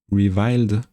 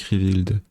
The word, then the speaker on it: reviled: bonnes cartes hein euh le I de reviild ça se prononce he reviled sinon ça se confond avec revild et oui c'est vile